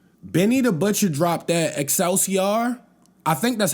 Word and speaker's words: Excelsior: Benny the Butcher dropped that Excelsior. I think that's how you pronounce it. It's EXCELSIOR.